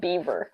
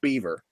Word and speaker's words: Bieber: They legit think that his name is Justin Bieber. They know how it's spelled, though. They know how it's spelled. But they just think that it's supposed to be pronounced Beaver.